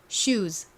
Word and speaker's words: shoes: s는 시옷 발음 스 발음이 나기도 하지만 지읒 발음 즈 발음이 나기도 합니다. 여기서는 지읒 소리로 쓰였어요. 그래서 신발을 영어로 shoes, shoes라고 하죠.